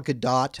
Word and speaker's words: Gadot: How do we feel about Gal Gadot? I believe it is Gadot. I've heard people call her Gadot, but I think the proper Israeli pronunciation is Gadot.